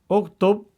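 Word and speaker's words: اكتب: Uktub ini kan dhammah, maka di sini dibaca dhammah.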